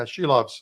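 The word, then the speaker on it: Šilovs: Did I pronounce that right? Shilovs? Yeah, Shilovs.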